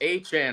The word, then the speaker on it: Etienne: First off, I got to say Travis Etienne to the Saints. That was a really good deal. It's not Etienne. It's not Etienne. According to him, it's Travis Etienne, remember?